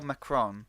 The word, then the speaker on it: Macron: been quite intriguing especially from a mr emmanuel macron is that how you say his name yes